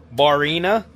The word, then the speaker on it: Barrina: I believe the name is pronounced Barrina.